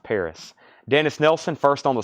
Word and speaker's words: PVRIS: I've only got one scorpions there I don't know a lot about this band it's I guess pronounced Paris but it's pvris all we